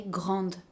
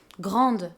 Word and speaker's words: grande: So because we add this final "e" for the feminine options, we have to pronounce the consonant that is right before. This is why we say "GRANDE", for the masculine there